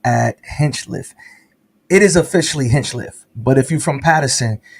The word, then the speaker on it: Hinchliffe: you've always pronounced it Hench Cliff so that's how I know if you're really from Patterson if you say Hench Cliff you really from Patterson if you say Hench